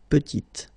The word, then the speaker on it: petite: Final T is not pronounced, and then when you add this E at the end, you get the sound T, T, petite.